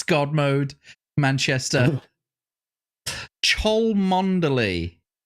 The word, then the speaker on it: Cholmondeley: Cholmondeley. Chumley.